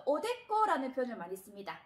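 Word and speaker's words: おでこ: 그 다음에 액이라고 발음을 할 때는 깍구하고 발음을 하시면 됩니다. 그리고 우리가 이마를 나타낼 때는 히타이라는 표현도 쓰지만 그거보다 또 오데꼬라는 표현을 많이 씁니다.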